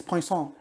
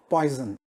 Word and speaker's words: Poisson: a poisson probability distribution note the pronunciation it's poisson and not poison let me sound another